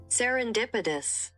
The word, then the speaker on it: serendipitous: So it's not serendipitos like the actual way to pronounce it is so weird. Okay. It's like serendipitous.